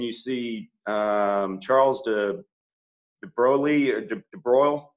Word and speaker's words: de Broglie: see Charles de debroglie de broiled it's spelled almost de Broglie but not pronounced that way I think it was